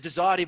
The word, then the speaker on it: Dazati: Yeah, we pronounced it Dazati, but we used to say we didn't care what you called us and how you pronounce it as long as you bought from us.